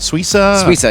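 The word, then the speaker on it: Suissa: do you say your last name is it suaa yeah okay see I got it right right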